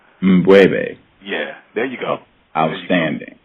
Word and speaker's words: M'Bwebe: Can you please pronounce your name for me correctly? Yes, it's Mbwebe. It's Mbwebe. Mbwebe. Yeah, there you go. Outstanding. Yeah. And can you pronounce your full name, sir? It's Mbwebe.